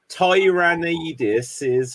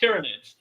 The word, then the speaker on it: Tyranid: is the nature of Tyran ais's hive mind cap they're are called pronounced tyranid they're basically like uh